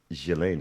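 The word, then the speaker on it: Ghislaine: it came out during Gilain Maxwell I believe is the way the proper way to say Galileain Maxwell's case which of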